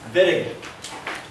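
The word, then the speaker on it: Wittig: okay miscellaneous reaction VI Germans pronounce it viig uh the viig is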